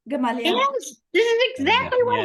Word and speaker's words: Gamaliel: This is exactly what happened in the Paul and Stephen book too, and I can't pronounce the man's name. How did you say it? Started with a G? Gamaliel? Gamaliel.